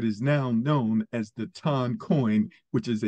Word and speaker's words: TON: and you know uh it's actually pronounced ton by the way but you can pronounce